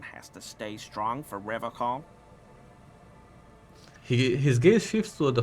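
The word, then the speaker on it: Revachol: He pronounces Revocol with a hard K, unlike other people. Serious question time. This man is no innocent. No one is. You said Revocol. I like to pronounce it the hard way. The old way. The Vespertine way.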